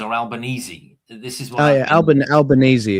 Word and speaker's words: Albanese: How do you pronounce? Is it Albanese or Albanese? This is what. Albanese.